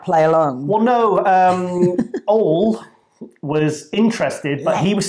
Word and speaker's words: Ole: And because I keep going to say Ole, but it's not Ole because it's no accent. It's Norwegian. It's pronounced Ole. At home, away from the cameras, we say Ole. Ole. Yes, even though he's Norwegian, nowhere near Spain.